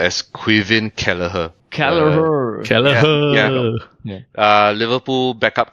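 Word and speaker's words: Caoimhín Kelleher: So it's pronounced as Quivven Kalaher.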